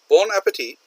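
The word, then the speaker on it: bon appétit: Bon appetit is French. Okay, he pronounces it a little oddly here. It's bon, which means good. Appetit.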